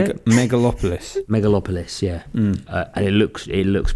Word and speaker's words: Megalopolis: Was it Megapolis? Is it how you say it? Megalopolis.